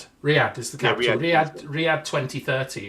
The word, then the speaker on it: Riyadh: Well, it's like, I always pronounce this wrong. It's Riyadh is the capital.